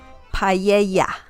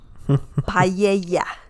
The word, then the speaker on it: paella: And there's a guy that says paella. Paella. And it's not paella. This dish is called paella.